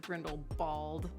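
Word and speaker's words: Grindelwald: Spielman this guy Alexis thought I said grindle bald Dena said that would be the true German pronunciation thank you Harry Potter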